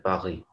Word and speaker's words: Paris: Paris को कहते हैं पारी, लेकिन वही वाली बातें पढ़ते वक्त ये वाउल से स्टार्ट है तो एस, वैसे पारी कहेंगे तो एस साइलेंट है, लेकिन इसके आगे वाला